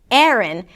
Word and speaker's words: Aaron: The first syllable is 'eh', 'eh', and even something closer to an 'uh' sound. And then the second part is 'rn', 'rn' - an R sound, a schwa, and an N - 'rn'.